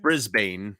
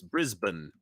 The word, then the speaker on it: Brisbane: bit better you know it's not Brisbane as we would say here it's Brisbane it's Brisbane see now I went with